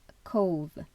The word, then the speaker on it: Cobh: rends en train à cause qui s'écrit Cobh le lendemain c'est tout